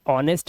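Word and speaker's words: honest: पढ़ते हैं गोस्ट गोस्ट मतलब भूत ऐसे ही ऑनेस्ट में एच साइलेंट हमें ईमानदार आवर आवर मतलब क्या होता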